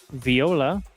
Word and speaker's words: Viola: they are tied with Viola, I believe is how they would want that pronounced. It's not Voila. I believe Voila is OI.